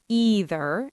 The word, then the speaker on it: either: Generally speaking, in American English and Canadian English, the most common pronunciation uses the long e sound either and neither.